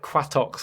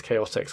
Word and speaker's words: Chaotix: Is it like Quatox or something? I was like, I think it's pronounced Quatox. I was like, and then it wasn't until I heard on a VHS it's Chaotix.